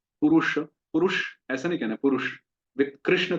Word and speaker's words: पुरुष: हिंदी में ठीक है, अपनी अपनी भाषा में ठीक है, पर संस्कृत में उसको पूरा उच्चारण करना है, इंद्रनील। इसी तरह से पुरुष, पुरुष ऐसा नहीं कहना पुरुष।